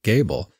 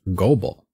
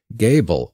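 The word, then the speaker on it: Goebel: name is spelled g-o-e-b-e-l which just reading i would pronounce gobel but apparently that's not how it's pronounced by most including the family themselves gable is the most common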